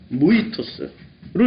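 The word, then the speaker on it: μῦθος: 신화를 뮤토스를 읽게 됩니다. 발음하기 좀 어려운데 무이토스로 읽게 됩니다.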